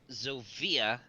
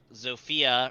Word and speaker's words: Zofia: And the heroes Rigel and Zofia lead them to victory. Zygel? And Rigel and Rigel. Zofia. Rigel spelled like you'd expect, and Sophia with a Z. PH or F? F. Okay.